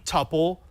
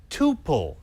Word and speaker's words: tuple: ways you can say topple you can say to pull it doesn't matter both are accepted and this is one